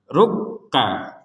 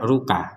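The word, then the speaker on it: رُّكَّع: bukan sekedar Waru Waru ya ruk ka ruka jadi ditekan dulu ruk kemudian ka jadi tidak sekedar ruka kalau ruka kan enggak ada tekanan itu maka sekarang ditekan rukka kemudian di sini juga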